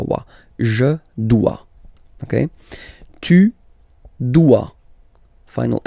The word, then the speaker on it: dois: Je dois. Okay, remember, final S is not pronounced. Je dois. O, E, when you combine the two, you get the sound wa, wa, wa. Je dois. Okay. Tu dois.